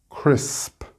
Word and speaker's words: crisp: So in the singular, this shouldn't be a major problem for you, but you need to make sure to pronounce the P at the end. Crisp, wasp.